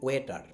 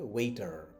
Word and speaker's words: waiter: বাট এটা real প্রোনাউন্সিয়েশনটা হচ্ছে ওয়েটা, ওয়েটা, ওয়েটা। ওকে, এটা শেষের আটটা উচ্চারণ হবে না, ব্রিটিশরা করে না। সেটা দেখেন ওয়া সাউন্ড, ওয়া এই ঠ আ, শ আ র, তো কী হয়ে গেলো ওয়েটা, বাট আমেরিকানরা বলে ওয়েটার, ওয়েটার।